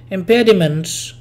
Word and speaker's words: impediments: So impediments, the stressful syllable is pe, and the M sound is before that syllable, after that syllable.